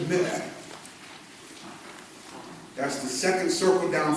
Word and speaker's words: Mer: The sixth level is called Mer. That's the second circle down from the top. It's called Mer. It's spelled M-E-R.